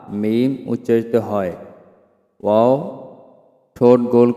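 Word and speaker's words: م: অর্থাৎ দুই ঠোঁট হইতে ওয়াও বা মিম উচ্চারিত হয়। ওয়াও উচ্চারিত হয় ঠোঁট গোল করিয়া মুখ খোলা রাখিয়া, এবং বা ঠোঁটের ভিজায় ভিজায় উচ্চারণ করতে হয়। মিম ঠোঁটের শুকনো জায়গা থেকে উচ্চারণ করতে হয়।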